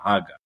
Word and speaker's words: Haga: the listeners you know we keep pronouncing it hagga we're not doing that in American wise he he actually spells it it's spelled haga hey alive giml alive